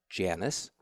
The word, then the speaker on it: Janice: And by the way, that's pronounced Janice.